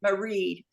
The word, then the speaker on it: Maighread: sorry m-a-i-g-h-r-e-a-d okay yeah it's like it's a Celtic spelling they like to add extra letters but I pronounce it Marie but in the Celtic language they would just say Marie but I've had a